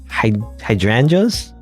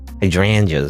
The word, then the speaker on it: hydrangeas: Hydrangeas, right? Hydrangeas is how you're supposed to say that. I always want to say hydrangea.